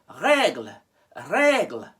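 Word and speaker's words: règle: that's why i said regl so that gl sound you hear is just a gl that e is non-existent in terms of pronunciation you get it want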